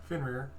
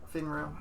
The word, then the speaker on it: Fenrir: How do you say your name, Jack? Again? Fenrir. Fenrir. Fenrir. Mm-hmm. Yeah. Like Fenrir. rear end. Yeah. R-I-R.